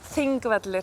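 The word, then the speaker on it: Þingvellir: Pronounced? Thingvellir. Of course. Yes, exactly. And thing means parliament so it's like the the valley of parliament, Thingvellir.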